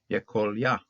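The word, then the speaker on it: יְכָלְיָה: This comments, then notice that this is a closed syllable, no accent, so it's going to be a comments hatuv. So we'll pronounce it Yekolia.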